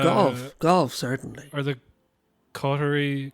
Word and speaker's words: Qatar: isn't it uh golf golf certainly are the cter qari you know government apparently it's pronounced cter like it's closer to cter than